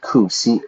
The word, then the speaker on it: coup: I don't know how to spell that, but we just pronounce it coup, like C-O-O. We don't pronounce the P, the French pronunciation, a coup.